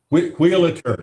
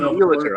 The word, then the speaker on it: Wheelator: Wheelator. It's a play on the mispronunciation. Okay, play on Wheelator.